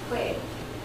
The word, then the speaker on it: Khue: I have so many other nicknames because of the way my name is pronounced, Khue. So my high school biology teacher actually called me Khue to go. That's my Khue to go.